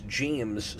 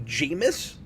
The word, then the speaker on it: James: Um but I I usually write James on everything. And this guy, no matter what I say, will not stop calling me Jamus.